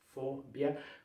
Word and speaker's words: fobia: Fobia, sílaba tônica é a primeira e o E, o O é fechado.